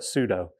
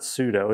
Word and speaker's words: sudo: It is super user do for all of you monsters that pronounce it wrong and call it sudo. It's not sudo, it's sudo.